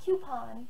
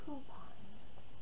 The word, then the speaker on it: coupon: of how i say coupon it's literally how it's spelled it's not coupon there's no queue it's coupon c-o-u so the key takeaways